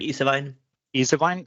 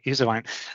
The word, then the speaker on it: Ysewijn: Anyway, today on this episode 148, we have Ysewijn. What was the right pronunciation? Ysewijn, thank you. Ysewijn, thank you.